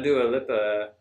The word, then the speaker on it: Dua Lipa: I know Dua Lipa, that's how you say it, but don't know the song.